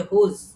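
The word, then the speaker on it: whose: ডব এস এটার উচ্চারণ হচ্ছে হুজ।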